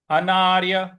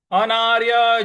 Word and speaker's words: अनार्य: समपस्थितम अगला पद है अनार्य अनार्य जुष्टम अनार्य अ न पर आ की मात्रा आधा र य अनार्य अनार्य जुष्टम जुष्टम